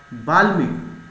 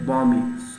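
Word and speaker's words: balmy: और बाल्मी, ठीक है, इसे याद करना, सॉरी बॉमी, सॉरी गलत हो गया, इसे हम प्रोनाउंसिएशन सही करेंगे बॉमी।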